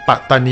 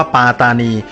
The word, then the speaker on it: ปัตตานี: ที่ ถูก ต้อง จึง ต้อง ออก เสียง ว่า ปัตตานี ไม่ ใช่ ปลา ตานี แล้ว การ ถอด เสียง และ สะกด คำ ๆ นี้ เป็น ปัตตานี ใน อักษร ไทย เนี่ย ก็ ได้ รับ การ